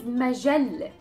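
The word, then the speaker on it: مجلة: Next one is majalle. Majalle. Majalle. Majalle means a magazine, and we have the L sound and then the T marboota, the circle T at the end.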